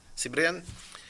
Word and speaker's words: Cibrian: Sibria, how do you pronounce that? Cibrian.